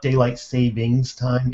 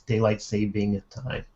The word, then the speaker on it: daylight saving time: It's not daylight savings time. It's daylight saving time. Before somebody corrects me, I know there's no S in there, but my tongue just wants Stephen to throw it.